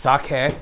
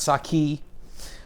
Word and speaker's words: sake: think everyone knows sokka it's pronounced sake not sake we're gonna do a